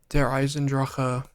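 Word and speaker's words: Der Eisendrache: Disendra. I'm the only person that pronounces it correctly.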